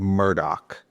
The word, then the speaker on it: Murdaugh: So, it's stated Murdoch.